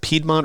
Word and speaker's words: Piedmont: I want to say is how it's pronounced. Piedmont Raceway.